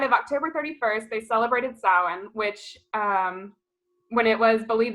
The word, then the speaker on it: Samhain: And for those of you who don't know, it's spelled Samhain, which is like a hilarious way to spell things, but that's just the way that the Celts pronounce it, yeah.